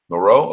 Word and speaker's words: Moreau: How do you say that last name? I'm not French. Moreau.